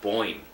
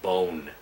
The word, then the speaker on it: Boyne: There was a friend of mine, a good friend of mine growing up, named Boyne. She always didn't make fun of his name, but she always mispronounced his name as Bone.